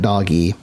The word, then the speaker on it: DOGE: guys know this, but people call it Doge, rightfully so, because that's what it is, Doge. You look at it, it's pronounced Doge. But their original intent was Dog-E. Dog-E is what it's supposed to be. But it's kind of evolved into its own thing as Doge, so nobody would know